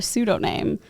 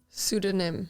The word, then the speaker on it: pseudonym: wrote it under a pseudo name or P pseudonym I always say pseudoname but that's not how you say it right pseudonym pseudonym I said it wrong with someone I was